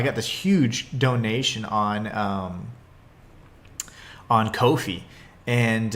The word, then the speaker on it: Ko-fi: this huge donation on Ko-fi. And a lot of people call it coffee, but they've actually said it's pronounced Kofi.